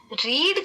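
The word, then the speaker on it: read: जैसे इसको देख लो रीड का जो थर्ड फॉर्म है ना उसको रेड बोलते हैं स्पेलिंग से है प्रनंसीएशन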